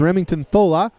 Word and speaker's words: Remington Thola: We are saying it right. It is Remington Thola. So we'll make sure and call his name out next time and do it correctly.